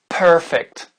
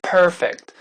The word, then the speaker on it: perfect: prononcer perfect perfect per un américain va dire perfect un anglais va dire perfect perfect et non pas per vous voyez ce que je veux dire c'est juste une question de placer la langue et de la faire arrondir plus vous allez arrondir votre langue à l'intérieur plus ça va sonner américain perfect ok on reprend